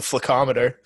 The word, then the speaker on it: Flaccometer: Yeah, well, I like to pronounce it correctly. It's the Flaccometer.